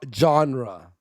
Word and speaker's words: genre: genre of spider-man no you're pronouncing you mispronouncing genre genre i'm sorry the genre of